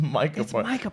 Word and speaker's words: Micah Parsons: It's Micah Parsons.